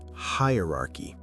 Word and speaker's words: hierarchy: So it's three syllables, not four.